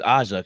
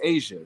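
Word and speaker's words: A'ja: is Aza CA Asia no her name is Asia say her name correctly see everybody no but everyone was been correcting me saying AA and I'm like I thought it was Asia who corrected you how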